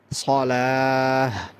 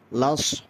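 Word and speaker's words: الصلاة: সালাহ, হাইয়া আলাস সালাহ। আবার দেখেন হাইয়া আলাস, জফেন আপনি হাইয়া আলাস, হাইয়া লস, লস, লাস বললে হবে না, লস, সদটা উচ্চারণ করতে হবে।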